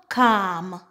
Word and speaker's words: calm: If we have the combination ALM, ALF, and ALK, typically the L in the word is silent.